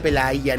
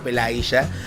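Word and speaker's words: Пелагея: Sí, me dijeron que se pronuncia Pelaya, no Pelaya, que en Argentina la y es sh.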